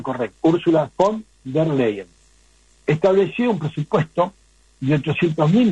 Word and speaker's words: Ursula von der Leyen: Pero fíjense qué detalle, Ursula von der Leyen, voy a pronunciar correcto, Ursula von der Leyen, estableció un presupuesto de 800.000 millones de euros